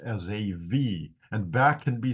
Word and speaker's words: Esav: a limb there anyway I call him asav because that's how I pronounce my vavs okay verse two asav